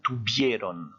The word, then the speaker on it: tuvieron: J'ai mis en rouge le V, parce que n'oubliez pas qu'en espagnol, il se prononce B. Hein, donc on dit bien tuvieron.